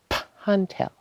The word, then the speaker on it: Pantel: And he actually pronounces it Pantel with a poof in the P.